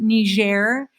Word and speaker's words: Niger: tower this is niger in french it's a french-speaking country in in africa uh they call it niger and niger you can